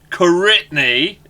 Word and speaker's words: Koritni: to the show The One and Only Lex karitny is that how you pronounce it by the way have I been